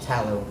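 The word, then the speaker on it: phthalo: And this one is called tallow. I'm just going to spell it cuz it's confusing.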